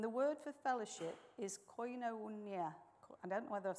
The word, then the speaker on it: koinonia: And the word for fellowship is koinonia. I don't know whether I've said that right, but it's spelled K-O-I-N-O-N-I-A, which means to have in common or to share.